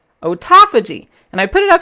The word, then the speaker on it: autophagy: 10 word which i hate using but it's pronounced ota fudgy autophagy and i put it up here so that